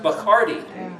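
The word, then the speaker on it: בחרתי: It's pronounced Bachardi. It's like Bacardi and rum.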